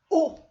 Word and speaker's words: eau: je veux vous dire que le mot où on dirait la lettre ou que vous connaissez bien